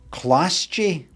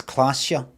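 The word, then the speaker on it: Klaasje: her lips this is Clash G Miss orange orange orang no no you don't you don't pronounce it that it's classia the G is actually k classica uh Miss orange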